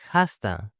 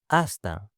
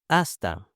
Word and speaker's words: hasta: Before we start, here is a secret: many goodbyes start with h, but in Spanish, the h is silent. Do not say jasta; say hasta. Listen: hasta.